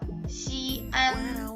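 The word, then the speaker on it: 西安: 발음 자체도 달라요. 시안 그리고 시엔. 그런데 이 격음부호가 없으면 우리는 이거를 시엔이라고 읽어야 되고요.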